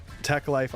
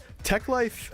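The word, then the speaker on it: Teklife: Techlife. Uh I think is technically a collective, but it might be also a record label. It's spelled te e k life.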